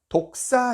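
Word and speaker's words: δόξα: 이라는 이 헬라어 단어가 독사 입니다 독사 발음이 좀 그 그 어떤 동물과 비슷하죠 독사 독을 가진 2급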